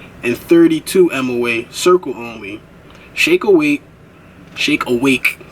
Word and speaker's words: Shake Awake: Shake awake, gotta pronounce that, not shake weight.